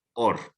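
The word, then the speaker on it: אור: que leemos como R, y se lee or. Se lee de derecha a izquierda y se pronuncia or.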